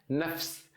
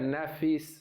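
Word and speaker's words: نفس: F e S, mas para conseguir pronunciar a gente coloca um vogalzinho assim bem pequeno, nafs, nafs, né? Eu não quero escrever como letra E mesmo, para não ficar nafis, entendeu? Para não ficar mais longa um pouquinho, que a gente precisa.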